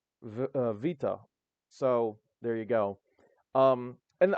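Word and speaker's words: βήτα: So the way we usually pronounce it is beta, but they pronounce it with a V sound for some reason. Vita.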